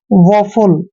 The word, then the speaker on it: woeful: दोस्तों डब्ल्यू का उच्चारण हमने व करना है, ओ ई का उच्चारण ओ करते हैं, एफ को हमने फ पढ़ना है और यू को ऊ की मात्रा पढ़ते हैं और एल का उच्चारण ल करते हैं।